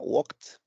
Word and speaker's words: walked: La pronunciación aproximada, walked. Otra vez, omitiendo prácticamente la E y la D y cambiándola por una pronunciación en T, en este caso KT. Bueno, walked, que significa pasear.